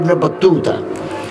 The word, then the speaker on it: ইবনে বতুতা: হযরত শাহজালাল রহমতুল্লাহ আলাইহি ইবনে, কথা শেষ, ইবনে বতুতা, আমরা ইবনে বতুতা বলি আর কি, আসলে উচ্চারণ হচ্ছে ইবনে বতুতা।